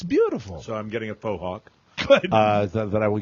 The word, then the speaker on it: fauxhawk: So, I'm getting a fauxhawk. Good. Uh that I will get I'm going to get a haircut tonight. Pronounced fah hawk.